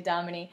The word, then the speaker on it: Dominey: Don't be shy to ask me how to spell my name or how to pronounce it. I get that a lot. It is actually Dominey.